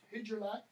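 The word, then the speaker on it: Hygelac: His name, by the way, Helak, sometimes it's pronounced Hidjelak.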